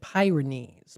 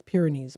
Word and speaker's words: Pyrenees: I always called it Pyrenees, but it's Pyrenees Mountains of Spain.